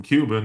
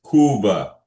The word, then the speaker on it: Cuba: he could be from Cuban and I don't know Bobby look like he I am from Kuba. Yeah. And it's not pronounced Cuba. It's Kuba.